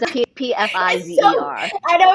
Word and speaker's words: Pfizer: The P is silent.